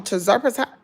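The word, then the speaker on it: tirzepatide: When I got on terzepatide, that's how you pronounce it.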